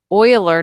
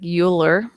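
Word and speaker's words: Euler: value e which is the oiler number even though it looks like uler when you see it written out. Um and e is a term just like pi where we have an approximate value but we can never say it as the absolute value. Yeah, buler. It's what I always think of when I think of Uler, but it's actually Oiler.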